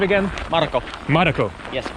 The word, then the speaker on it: Marko: Marko. Yes. Kind of like Marco, but Marko.